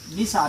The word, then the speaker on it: निशा: तो न, हर्षईकार, तलाव्या, स, आकार, निशा।